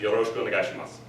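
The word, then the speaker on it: よろしくお願いします: time to get down, yo, ro, shi, ku, o, ne, ga, I, shi, ma, su. Yoroshiku onegaishimasu. When you say the su at the end, you drop the u sound, so it's just mas.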